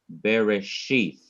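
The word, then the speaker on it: בראשית: emphasize that particular syllable so in this word bereshith this is the very last syllable of the word and it is indicating that the last syllable is to be what the last syllable is to be what emphasized the last syllable is to be emphasized to emphasize it you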